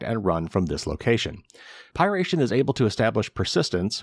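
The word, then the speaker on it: PY#RATION: rat dubbed pyration and that's spelled py pound sign r-a-t-i-o-n so I'm going to call it piration it's currently being spread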